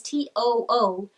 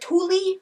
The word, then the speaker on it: Tooele: Tooele is T-O-O-E-L-E. I was like, Thule? I think that's what I pronounced it when I first got there.